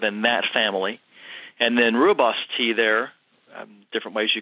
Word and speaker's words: rooibos: They show T and they show rooibos T.